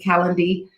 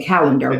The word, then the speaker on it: Calendly: All you have to do is click on that link, Calendly. I always say it wrong. I want to say calendar, but it's not calendar.